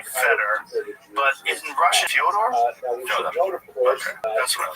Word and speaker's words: Fyodor: Yeah, well, that's kind of the accepted American pronunciation of Fyodor, though. Right? So I wanted to ask you if it's Fyodor. Yeah, it is.